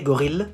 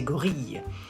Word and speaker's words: gorille: You don't say gorille, you say gorille. Why? Because the vowel before the double L is I. So you pronounce y, like fille, bille.